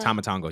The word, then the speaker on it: Tama Tonga: Tama Tonga, yeah.